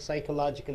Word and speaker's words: psychological: is uh physical oriented psychological you have to say here PE is silent able to understand physiological means body related psychological the sense the heart related mind related your P silent right okay you gentlemen